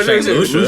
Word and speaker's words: St. Lucia: St. Lucia? That's what I thought at first. And I was like, you got money. St. Lucie? I thought it was Lucia. No, St. Lucia.